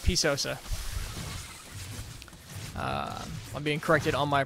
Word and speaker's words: PSosa: in the defense from po Sosa and it's P Sosa so I like pies that puss is not good enough P sews all right P Sosa I'm being corrected on my pronunciation which is